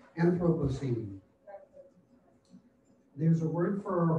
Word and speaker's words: Anthropocene: It begins with anthro, two syllables that pack a punch, and ends with pocene.